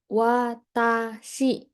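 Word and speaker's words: 私: Kanji ini dibaca watashi, artinya saya.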